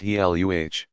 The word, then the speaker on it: Gila: Two lizards are known to inject venom into their prey, the Gila, pronounced Heluh, monster, and the Mexican beaded lizard.